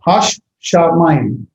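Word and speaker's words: הַשָּׁמַיִם: Hash, see, it has 2 shins. Hash shamayim.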